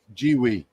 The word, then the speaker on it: GWEIKE: they pronounce it Jiwi.